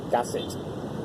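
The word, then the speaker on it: Kasetsart: And the K is pronounced as a G. So for the university in Bangkok, K-A-S-E-T is pronounced Gasset. Gasset.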